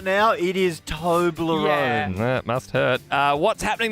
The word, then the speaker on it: Toblerone: You got some Toblerone there in the cupboard?